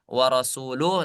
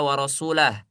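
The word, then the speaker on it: وَرَسُولُهُ: Ee kalau enggak salah itu di surah ee At-Taubah yang seharusnya itu dibaca warasuluh tapi dibaca warasulah.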